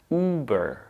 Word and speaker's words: Uber: Then we connect it to the second half of this word, which is burr. Burr. Once again, it's just a consonant cluster, b and together, burr. So when we put two and two, or these two halves together, we get Uber.